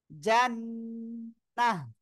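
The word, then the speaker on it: جنة: একটু করে দেই তাহলে উচ্চারণ হবে জান্নাতান্না বলে আমরা বলবো জান্নাহ জিম নুন জবর জান হরকতের বামে নুনে তার ওয়াজিব গুন্না হচ্ছে তারপরে নুন জবর নুন হা জবর নাহ গোলটা থাকলে কি হা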